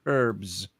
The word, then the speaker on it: herbs: you say over there herbs yes H is silent the the H is